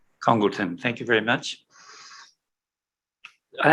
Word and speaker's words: Congleton: I'll begin by asking whether we're pronouncing your surname correctly. It is Congleton. Congleton, thank you very much.